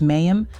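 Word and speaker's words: מים: Of water, pronounced mayim, means water, symbolizes life and sustenance, which yields, pronounced asher, meaning which, that, connects the clauses.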